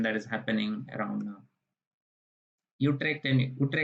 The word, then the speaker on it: Utrecht: Utrecht University, because U is pronounced as U in Dutch.